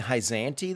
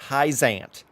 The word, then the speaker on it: Hyzante: we journey to heisent i think i've been saying hyzanti this whole time but you heard it from the mouths of babes it's pronounced heisent i don't know why